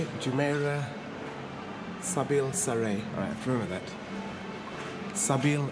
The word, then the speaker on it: Jumeirah Zabeel Saray: Jumeirah Zabeel Saray.